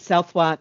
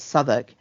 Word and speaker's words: Southwark: meant to know um I called it southwark for the longest time um because I was reading because I come from a country where you sound out the letters moldi is written phonetically you sound out you learn the punctuation you can sound out sound it out um some friends basically pointed out that it's souk and and I and it